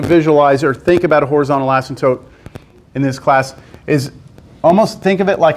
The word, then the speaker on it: asymptotes: weird word in mathematics asymptotes horizontal asymptotes it's like the P is silent it's a weird word asymptotes the passim tope assam